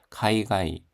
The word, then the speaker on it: 海外: 카이가이 해외입니다. 발음이 뒤에 가이입니다. 앞에는 카이고 가이가이 고식 호몽 하면 공식 방문입니다.